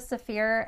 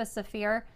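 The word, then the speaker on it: Saafir: My friend Latifa Safir has acrylic templates as well as quilt patterns for curves and Drunkard's Path style quilts.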